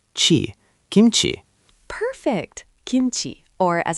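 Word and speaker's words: 김치: Second syllable, ch is ch, and E is E, chi, kimchi.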